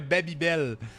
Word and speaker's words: Babybel: For me, it's always been a Babybel. It's never been a Babybel. You know, it's always been I've always pronounced it like you would pronounce it in French, but obviously the name